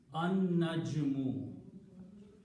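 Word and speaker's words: النجم: And the pronunciation again, this noon that had a fatha before will kill the sound of lam, and noon should be pronounced twice. An-najmu. So the recitation will be an-najmu. Noon is being pronounced twice. Lam is not being pronounced.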